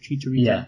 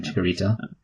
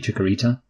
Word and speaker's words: Chicharito: Okay, you called him Chicharito. I had it shirt Chicharito. You know what, Luke? Okay, I yeah. get that you can pronounce his name properly, but to me he'll always be Chikorita, because it's easier, not Chicharito.